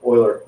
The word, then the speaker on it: Euler: your capital professor is to call oiler healer because it's like mispronouncing the name of elvis it's one